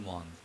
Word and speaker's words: monde: Tout le monde, because E follows D, so D has to be voiced. Tout le monde.